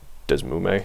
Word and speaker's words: DeSmuME: So DS, I personally think that the best one is, I pronounce it Desmume, and I'm gonna type right now, and I'm sorry.